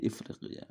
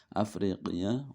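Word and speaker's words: أفريقية: Nah, di sini alifnya di atas, hamzahnya berarti bacanya a. Kalau di bawah berarti Ifriqiya. Kalau di atas Afriqiya wal Andalusi wal Maghribi, dan negara Maghrib, Andalusia, Maghrib, Afrika, Mesir, wal Maghribi al-Aqsa.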